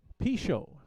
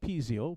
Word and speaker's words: Pichot: Pichot, not Pizzio, Pichot.